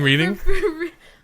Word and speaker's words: Reading: Reading reading? Well, people who don't know it's pronounced Reading, they'd say reading and reading.